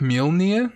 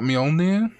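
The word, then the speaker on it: Mjölnir: apparently i heard this actually pronounced like milner not mjolnir yeah it's tough hey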